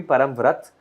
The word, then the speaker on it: Parambrata: wrong it's param vrat if you really have to sort of hindify my name then it's got to be param vrat and uh if you